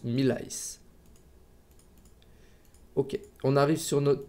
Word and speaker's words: Millals: qu'il est assez difficile ça se prononce mille ice hockey on arrive sur